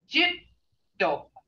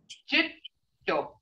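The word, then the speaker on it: cetto: But when you say snake, you see that double consonant, the DD there, the double consonant right there. You gotta pronounce both of those, and that's why it means it's held a little longer. Jitto.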